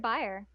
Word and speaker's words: Baer: Bayer? I always thought it was Bayer. I've always heard it Baer. Okay. Huh. I think it probably could be pronounced either way.